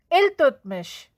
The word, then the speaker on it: Iltutmish: t m i s h and it is pronounced as al tutmish mish completed the work of kuttup minar children